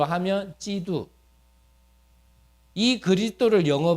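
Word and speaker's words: 基督: 그리스도 우리 한국 발음으로 하니까 그리스도 한자를 중국 발음으로 하면 지두이 그리스도를 영어 발음으로 하면 크라이스트 이해되셨나요 그럴 때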